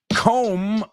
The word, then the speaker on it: comb: Comb rhymes with home.